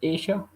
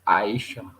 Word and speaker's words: Aisha: Arab this speaker, but I can pronounce Aisha. He said Asia.